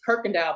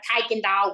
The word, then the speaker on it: Kirkendall: So the word is Kirkendall, but everybody else is like Kikendall. When they see it, they like, it don't have an R in it.